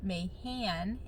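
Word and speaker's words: Mahan: I married a man with the last name Mayhan, M-A-H-A-N, and so we've kind of always played off of Mayhem, because that's kind of what it sounds like, and everyone always mispronounces it anyway.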